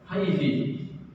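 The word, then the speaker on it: حيث: Sama juga haitsu. Haitsu kan sebagian orang Arab membacanya haitsi.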